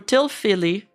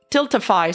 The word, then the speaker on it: Tiltify: All money from the bids went directly to the charity through Tilfilly Tiltify.